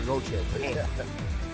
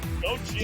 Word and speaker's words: Gauthier: I'm from Quebec, Scott. So yeah, I know how to say the French. It's Connor Gauthier. Gauthier. He's not French, but it's a French name.